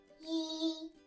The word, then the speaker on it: 一: It's pronounced as yi, yi, yi in the first tone.